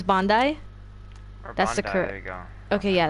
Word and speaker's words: Bondi: wrong so it would be okay so it's Bondi that's the crew okay yeah that's the correct the correct is Bondi is ringing my doorbell nobody know why your